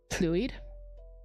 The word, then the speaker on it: Llwyd: If it was two L's, so in Welsh often you'll see the LL, that's the more Welshy sound, like the hl. So if it was like spelled LLWYD, it would be fluid, but because it's just one L, it's Luid.